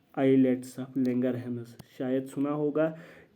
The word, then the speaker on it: islets: In cluster of सेल्स को हम कहते हैं आइलेट्स of Langerhans. आइलेट्स of Langerhans, या इनको हम पेनक्रियाटिक आइलेट्स भी कहते हैं, ISLETS, ठीक है। आइलेट्स, एस साइलेंट रहता है।